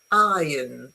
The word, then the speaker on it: iron: Um, R is only pronounced. Remember that I'm talking about standard British English because the Americans pronounce the R a lot more. Um uh in British English you pronounce uh the R when the next sound is a vowel sound. Okay. Uh when is a consonant sound you don't pronounce. Okay. Exception iron.